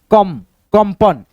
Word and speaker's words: कंपन: अब यहाँ पे दोस्तों जो इस बिंदी का उच्चारण है, इसको जब आप पढ़िएगा कंपन कंपन, तो इस बिंदी का उच्चारण म के रूप में है।